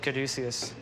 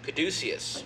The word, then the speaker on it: Caduceus: Caduceus. Caduceus. Caduceus is the winery. Merkin mm-hmm. Vineyards are the vineyards. Merkin Vineyard. And you don't have a problem that your winery, the middle syllable almost sounds like douche?